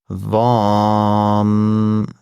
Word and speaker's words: وام: که وام هستش و به این شکل تلفظ میشه وام و وی ای ام در واقع نوشته میشه به انگلیسیه و همون طور که